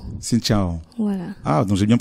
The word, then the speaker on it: Xin Chào: En général, on dit Xin Chào. Xin Chào. Voilà. Ah, donc j'ai bien prononcé, ouais.